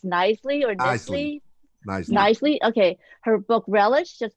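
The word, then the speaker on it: Knisley: Knisely.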